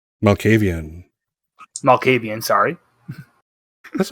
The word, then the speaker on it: Malkavian: what's what's what are his pronouns he always pronounces he say them and uh what's what is jean baptiste's clan maccabean malkavian malkavian sorry that's right don't be sorry nevermind